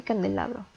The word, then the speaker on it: candelabro: Tenemos 2 ejemplos: barco y candelabro. Barco está dividida en 2 sílabas y la sílaba tónica es bar. Candelabro está dividida en 4 sílabas y la sílaba tónica es la.